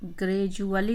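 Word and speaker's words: gradually: ग्रेजुअली उच्चारण है, जब भी डी के बाद यू आ जाती है तो यू की वजह से इसका उच्चारण डी यू का डू नहीं होता है, जू हो जाता है।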